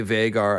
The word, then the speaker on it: Vhagar: has informed me that george does indeed say vegar i usually try to go with the pronunciations that george gives so that's how we'll